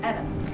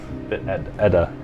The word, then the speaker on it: Edda: 今の姿で That's Edna. Oh. Where's the N in there? Okay, so I've been pronouncing it wrong this whole... Yeah, where's the N in there? Oh. How did you read that as Edna?